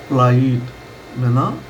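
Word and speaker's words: plight: जब आप हिंदी की साउंड बोलेंगे तो तब आपको पता चलेगा प्लाइट वचन।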